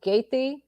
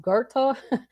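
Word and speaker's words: Goethe: i'm pronouncing it well we used to pronounce it gaity but it's actually pronounced gerta it's here in oregon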